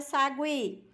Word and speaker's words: sagui: como é olha só na palavra Sagui Aí sim olha eu já pronuncio eo Sagui o já entra na pronúncia não é isso aí